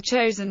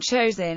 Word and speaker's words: Chosin: of the Korean Peninsula the name chosen is the Japanese pronunciation of the Korean place named Chang Jin and the name stuck